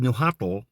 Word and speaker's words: Nahuatl: See, it's spelled Nahuatl, but it's pronounced Nahua, which is the same as the Book of Mormon Nephi, or the Nephites, from Nephi.